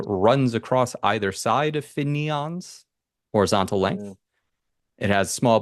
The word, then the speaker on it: Finneon: Finneon. Like Finneon. like an Eevee evolution.